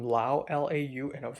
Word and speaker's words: Lau: I saw the last name Lau, Lau, and I was like, oh my god, Hongkonger? Because the same word is pronounced different in Mandarin. In Mandarin, it's Liu, Liu, but right here is Lao, Lao.